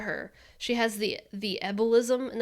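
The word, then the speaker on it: ebullism: she has the the ebolism and that's not embolism that's the ebolism i might be pronouncing it wrong but it's e-b-u-l-l-i-s-m it's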